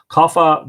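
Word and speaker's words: Cathbad: story of her birth kapha that's CA th ba D kapha the druid was a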